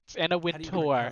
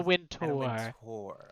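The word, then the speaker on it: Wintour: vogue vogue anna winter alex you didn't pronounce it correctly but i will accept in a tour and a win tour but i will accept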